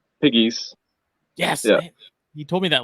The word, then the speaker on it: Pegues: joined by Mr Piggies yes you told me that last time first time it's like the three little piggies that's how it's pronounced okay and it was